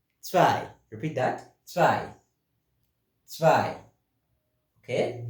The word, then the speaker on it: zwei: Zwei. Zwei. Repeat that. Zwei. Zwei. Okay, zwei. Remember we say W carries that V sound.